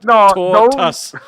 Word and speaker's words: tortoise: So it says sounds like tortus.